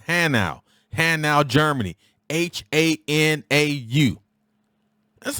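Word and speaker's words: Hanau: speed listen to me it is not hanua it is hannow and now germany h-a-n-a-u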